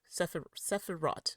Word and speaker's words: Sefirot: Gosh it feels so weird to say the t on it. I feel like I should say it like without the t but okay. So you pronounce it like you would in Hebrew.